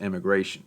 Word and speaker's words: emigration: They're actually both pronounced immigration, but I wanted to emphasize the E in emigration as to not confuse you.